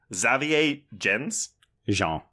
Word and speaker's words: Xavier Gens: Xavier Jean.